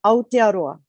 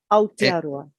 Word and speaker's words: Aotearoa: The pronunciation, Aotearoa. Aotearoa.